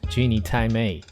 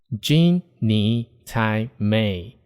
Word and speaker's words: 鸡你太美: Genie Thai May. Genie Thai May. Different from Genie Thai May. Though it's just a small difference resulted from the nasal sound, the first pronunciation has